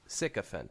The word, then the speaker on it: sycophant: the psychic the sycophant think of it sycophant that's how you say it again the sycophant Daybreaker